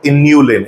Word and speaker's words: inulin: One is chitin or what you also pronounce it as chitin and second inulin. It is not insulin, do not make a error.